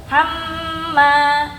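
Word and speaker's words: حَمَّالَةَ: Wamroatuhu hammalatal. Ini penting nih. Perhatikan ya. Mim tasdid ini ada dua ketukan ya seperti dengung dia. Hamma tahan dulu dia dua ketukan.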